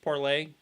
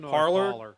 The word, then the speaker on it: Parler: I said it was originally supposed to be pronounced parlay I don't know why they spelled it the